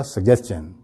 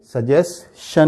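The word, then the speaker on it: suggestion: भी फिर जो है इसमें एक चीज और भी है कि इसको हम मजीद तोड़ देते हैं क्योंकि इसमें डबल जी आता है तो हम इसको सग जेस्टन बोलते हैं रवानी में जब बोलेंगे तो आपको बहुत ज्यादा फर्क महसूस नहीं होगा सजेन सजेशन ठीक है रुकना भी नहीं है सजेन तो यह सजेशन नहीं है सही इसका प्रोनंसिएशन क्या है सग ज सजेन राइट इसके बाद यह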